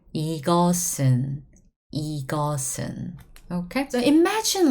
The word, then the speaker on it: 이것은: So when you pronounce it, we write it this way. However, we pronounce it 이것은. It was sound before, remember guys? However, when it goes back to the original on top, it becomes s. Back to original sound, S sound again.